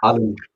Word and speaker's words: Allen: And his name is not Allen, it's Allen. David Allen.